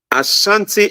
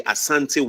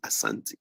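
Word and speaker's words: Asante: could not pronounce the Asanti well but pronounce it Ashanti but we don't say Ashanti we say Asanti so there is a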